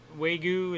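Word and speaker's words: Wagyu: is that okay japanese weigu is how you pronounce that beef beluga caviar alaskan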